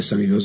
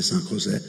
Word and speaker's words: San José: Una volta ero a una trasmissione Rai, mi hanno corretto che non si dice San Ioso, ma si dice San José, non lo so, lì